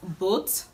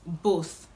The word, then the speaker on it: both: This word is commonly pronounced boat, just like b-o-a-t, the way we usually pronounce b-o-a-t. But the right way to pronounce this word is both, both, both. There's a difference. Both, both, both, both, like both of you and not both of you.